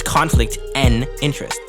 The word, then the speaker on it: Conflict N' Interest: you say like conflict it's just the letter n it's conflict and interest conflict and interest but